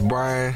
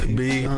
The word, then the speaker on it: Bryn: His name is Brian Forbes. Bryn. It's pronounced.